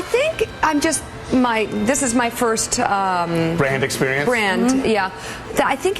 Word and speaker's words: Brand: At first, Brand smiled graciously. The host, mispronouncing Brand as Brant, chuckled nervously.